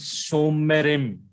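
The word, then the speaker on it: שׁוֹמְרִים: Now you see that Holam Vav is a full letter vowel. So the pronunciation is Shomerim. Shomerim. So after the full letter vowel, that Shiva under Mem is vocal.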